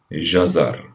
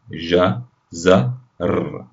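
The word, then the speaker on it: جزر: And finally we add our dot on top, and now we have jazar, ja, za, r, ja, za, r, jazar.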